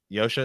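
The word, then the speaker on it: Josha: Yosha. Yosha is his name. I think that's how you say it.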